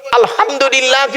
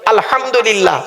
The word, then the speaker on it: আলহামদুলিল্লাহ: গলার ভেতর থেকে হেটা উচ্চারণ করবেন। আলহামদুলিল্লাহ। মানে হচ্ছে সমস্ত প্রশংসা আল্লাহ তোমার। আর আমরা নামাজ পড়তে উচ্চারণ করে কি করি? আলহামদুলিল্লাহ। এর মানে শুনবেন সমস্ত ছেড়া জামা কাপড় আল্লাহ তোমার।